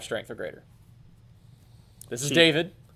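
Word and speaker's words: D4v1d: three cost 1 muu it's called David although it's spelled D4 v1d so we have some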